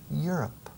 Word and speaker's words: Europe: Y el inicio de Europa es igual. Europe. Casi como si estuviera diciendo tú estás arriba. Europe. You're not down. Pero acentuando la primera sílaba.